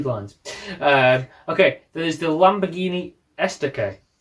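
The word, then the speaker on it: Estoque: Okay, there's the Lamborghini Estaque. Correct pronunciation as well.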